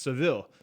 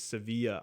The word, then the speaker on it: Sevilla: well no that's how that's how the Spanish pronounce it so I guess in English it's pronounced Seville but they pronounce their ease Sevilla I've I only know